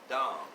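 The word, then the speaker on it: דָּם: on mankind the word dom d a m dom that's the way it's pronounced in the hebrew means blood adama means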